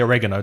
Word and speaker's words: oregano: an American difference because they definitely say oregano don't they mm-hmm stress the second syllable yeah right okay I've